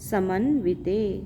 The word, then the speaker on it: समन्वित: है सर्व शक्ति समन्वित सम यहां पर रस्व न है व पर रस्व ई है छोटी ई है समन्वित समन्वित समन वितेन